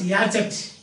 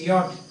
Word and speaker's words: yacht: So, some people pronounce it as Yachet, because C-H has got catch, C-H, chain, C-H, so catch, Yachet. But you know that it is not Yachet, it is Yacht.